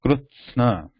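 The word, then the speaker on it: कृत्स्न: So it is krutsna, krutsna. So all are combined together here. Krutsna. With ta and sa together, krutsa, and na is pronounced immediately after sa. Krutsna.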